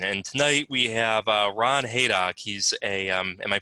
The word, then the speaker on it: Hayduk: And tonight we have Ron Hayduk. He's am I pronouncing that correctly?